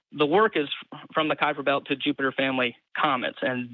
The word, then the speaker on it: Kuiper belt: do you agree the Knifer belt exists and I may be pronouncing it incorrectly Kuiper belt Kuiper belt sorry the Kuiper belt if somebody can somebody